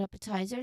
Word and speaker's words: appetizer: Well, well, when since we're talking about appetizer, let's talk about its appearance. Stress the syllable up.